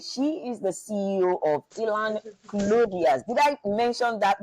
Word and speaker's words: Elan: She is the CEO of Elan Clothiers. Did I mention that? Did I pronounce that right? Yeah, Elon Yes.